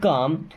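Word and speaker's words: calm: keep काम, देखिए keep का मतलब होता है रखना या रहना, काम, अब यहाँ पे एल साइलेंट है ना, कीप काम मीन्स शांत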